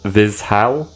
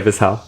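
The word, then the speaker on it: Vizhay: they uh ended up at this Village called vizal mhm that's how you pronounce it yeah I've been there before yeah visal yeah a little a little V Village of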